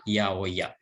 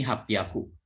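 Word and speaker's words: 八百屋: Tapi kalau ada ya di sininya, dibacanya menjadi yaoya. Ya. Kalau dua huruf kanji ini hapyaku, 800. Tapi kalau ada ya, menjadi yaoya. Tidak dibaca hapyaku ya.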